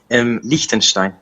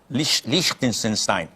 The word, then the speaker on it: Liechtenstein: How do you pronounce your country? Liechtenstein. Liechtenstein.